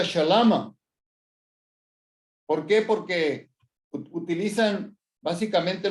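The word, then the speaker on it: שלמא: Por eso muchas palabras en arameo, como la palabra saludo o paz, es más popularmente conocida como paz, shalom, en arameo se pronuncia shalama.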